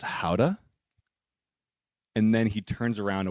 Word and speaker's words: Gouda: gouda like the smoked gouda i think it looks it's just um it's pronounced howda and then he turns